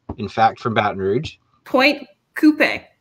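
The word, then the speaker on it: Pointe Coupee: across the river in fact from baton rouge point coupe like like a car it's like a point coupe it's close okay that's how it should be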